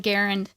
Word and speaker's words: Garand: I just want to mention real quick, I noticed that you pronounced it, the M1 Garand.